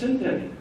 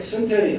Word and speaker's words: synteny: Primary evidence for the fusion is synteny. Okay, synteny, I get to teach you a new word.